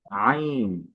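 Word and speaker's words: عين: আইন প্রথমে হরফটা যখনই শুরু হবে তখনই গলায় একটা চাপ থাকবে। আ আইন আমি আবারও বলছি আইন তো যদি উচ্চারণটা দেখি কন্ঠনালীর মধ্যখান হতে আওয়াজকে চাপ দিয়ে পড়তে হয় আচ্ছা অর্থাৎ আমাদের যেই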